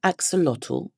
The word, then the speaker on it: axolotl: Then fill the whole axolotl Yep. I googled it so I could pronounce it.